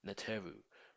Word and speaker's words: Neter: Neter is the original Egyptian word for god, or in plural form, Neteru, represented by 3 axe hieroglyphs, meaning gods. Neter phonetically sounds like nature, n sound, and the Neteru represent the different elements of nature.